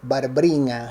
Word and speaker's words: Barbrina: Y mi abuela también en realidad se llamaba Bárbara, pero todo el mundo la conocía por Barbrina, así se pronunciaba en piamontés, ¿no?